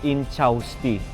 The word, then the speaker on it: Ynchausti: Kinlaro ko muna yung pag-pronounce. So, Inchausti.